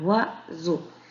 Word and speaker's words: oiseau: C'est vrai que la lettre S, quand elle est entre deux voyelles, je la prononce très bien. Je la prononce Z, un oiseau.